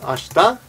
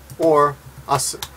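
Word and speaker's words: 明日: Oh yeah, and one other thing he says is, for fun, you should also teach the fact that this is pronounced two ways. It's pronounced ashita or asu.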